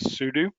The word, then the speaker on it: sudo: you might type sudo some other people might pronounce that slightly different i was instructed that it stands for super user do so that's just how i learned to say it is sudo and then you type